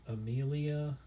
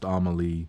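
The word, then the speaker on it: Amélie: I feel like the the little Amelia or I I think that's probably pronounced Amaly. Amaly.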